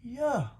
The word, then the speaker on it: Yahweh: could have had some of that right spelled y-a-h-w-e-h but it's pronounced yeah not yahweh not a hard day but then